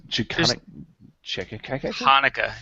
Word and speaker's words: Hanukkah: couldn't check in khaki Hanukkah it's not CH Hanukkah huh I don't even know